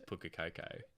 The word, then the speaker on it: Pukekohe: you say it, because how do you say it? Is that right? Pukekohe. Yeah, right. My mum says Pukakoko.